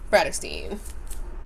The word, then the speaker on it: Bratterstein: name is and my channel name is pronounced Brad astein today's video is going